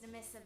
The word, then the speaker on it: Nemissa: Oh, my name's Nemissa, by the way. Oh, it's wait, it's Nemisa? I always pronounce it Nemisa.